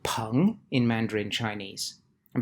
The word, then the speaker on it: 硼: element boron is called pong in mandarin chinese and because this sounds like the word for friend the character for boron